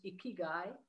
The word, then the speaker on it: ikigai: Japanese can't read Japanese but it's pronounced a key guy it's the Japanese concept